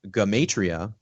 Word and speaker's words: Gematria: it was, called Gematria, otherwise pronounced Gematria, which is actually the correct pronunciation. We pronounce it Gematria for the most part.